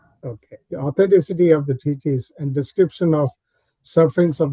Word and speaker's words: treatise: How do you pronounce this? Treatise, or how do you?